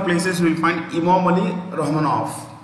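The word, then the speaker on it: Rahmonov: you will find immorally romanov the v in the end is pronounced with an f and the currency of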